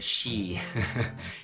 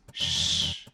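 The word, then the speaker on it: 十: the end pay attention do not pronounce like a she it's not she its Shh and with the sound will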